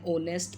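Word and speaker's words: honest: है उसके बाद है word beginning with H that is silent and ओ is given after it एंड ऑनेस्ट person N Onerex N ही इज एन ऑनेस्ट person a अ इज यूज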